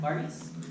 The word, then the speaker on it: Varghese: So without further ado, I'd like to introduce Varghese. Am I pronouncing your last name correctly? Yeah. All right, Varghese.